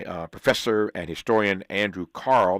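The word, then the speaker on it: Kahrl: professor and historian Andrew Carl that's spelled KRL uh in case you need to know that and you probably do because it ain't it it ain't spelled like it sounds Andrew Carl k a hrl is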